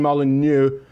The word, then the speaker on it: Molyneux: That's, as far as an American goes, that is a fairly good thwack at the French syllables.